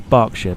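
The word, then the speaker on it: Berkshire: a change in Burk is it Burk or bark cuz there there I'm sure there's two different ways of pronouncing it I I always go for barkshire but I looked at and go Burk Burk like you like you know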